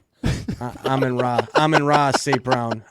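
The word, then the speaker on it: Amon-Ra: You got Aman Ron St.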